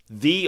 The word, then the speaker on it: Ye: Where Storage Building 2, and The Old Eatery are currently being attacked. And yes, that's technically speaking, it's actually pronounced as like the or the. It's not ye.